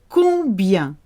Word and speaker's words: combien: Combien, combien. Got the on sound.